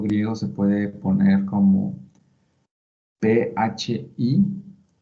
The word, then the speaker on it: phi: Este símbolo griego se puede poner como PHI y se pronuncia phi.